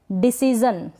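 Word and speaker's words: decision: करें रिवीजन next है डिसीजन क्या है डिसीजन यहां पर भी जन पढ़ रहे हैं शन नहीं पढ़ रहे हैं डिसीजन मतलब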